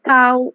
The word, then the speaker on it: tau: call this tau right i'm not sure how the pronunciation in english but i do learn this as tao in japanese i think it's the same yes it's the same it's the same great okay so it's tau okay so uh the